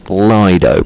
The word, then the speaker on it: Lido: Rob, thank you very much for getting back in touch from Venice Lido, pronounced Lido. Thank you very much. I've never known how to do it's Lido or Lido, so Lido.